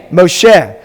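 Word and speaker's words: משה: How do we pronounce it? Moshe.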